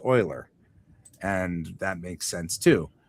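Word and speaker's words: Euler: and and and uler, which I've always pronounced as Uler, is actually pronounced Oiler.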